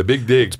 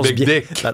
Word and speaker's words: Big Dig: The big dig pas de big dick. Prononce bien chaque lettre.